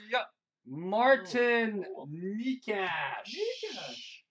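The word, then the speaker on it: Nečas: It rhymes with Brock. Yep. Martin Nikash. Nikash.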